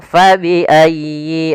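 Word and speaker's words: فَبِأَيِّ: Fabiaybikuma tukadziban pada lafal fabiayyi. Ah di sini sempurnakan di tasdid huruf ya. Jangan fabiayy ala tapi dia sempurnakan. Fabiayyi. Ayyi.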